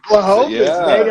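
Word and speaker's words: Błachowicz: Blachowicz, baby.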